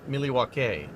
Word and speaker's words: Milwaukee: Actually, good Milwaukee. Actually, it's pronounced Milywake, which is Elgangquin for the good land.